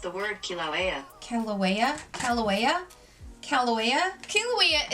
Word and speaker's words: Kilauea: hey Google how do you pronounce the word kil au EA that's pronounced the word Kilauea Kilauea Loa uh Callaway uh QE is an active